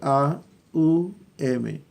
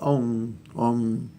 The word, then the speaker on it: Om: Realmente la palabra está compuesta por A, U, M. Y se pronuncia Aum, Aum, Aum, Aum, Aum, Aum, Aum. Pero fonéticamente queda sonando como si fuera Om, Om, ¿verdad?